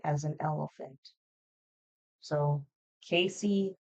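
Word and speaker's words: Kaycee: Her first name, Casey, it's spelled like K as in kangaroo, A as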